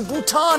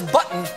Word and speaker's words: Bhutan: Trump referred to Bhutan as button and mispronounced Nepal as nipple.